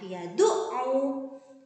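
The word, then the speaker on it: يَدُعُّ: Kemudian di situ disambung untuk kata yang ketiga, yadu'u. Ada tasydid pada huruf ain, maka huruf ain harus ditekan.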